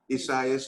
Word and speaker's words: Isaias: Isaias? Isaias. They pronounce it using the Spanish pronunciation.